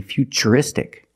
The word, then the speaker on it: futuristic: T as ch and we see t-u-r-i in futuristic again the t is pronounced with the CH sound so the first word